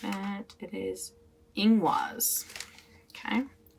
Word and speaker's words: Ingwaz: How do I pronounce it? It is Ingwaz. Okay. Ingwaz.